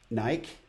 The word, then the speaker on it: Nike: a big fan of naik you know they want me to pronounce it Nike but it's naik it's felt like you